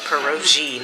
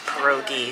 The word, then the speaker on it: pierogi: yeah and I actually think she pronounced it perogy not pierogi so I think I've been pronouncing that wrong